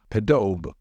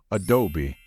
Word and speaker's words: Adobe: be tempting to say podob however the only correct pronunciation of this word is Adobe don't forget about the e at the end which should be pronounced Adobe in Microsoft Office in